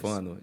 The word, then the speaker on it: Stéfano: é Stefano de Instagram, Moraes isso aí. com S mudo. Não é Stefano de Moraes. Stefano de Moraes. Stefano de Isso. Moraes. S mudo, Stefano de Moraes. Moraes com E.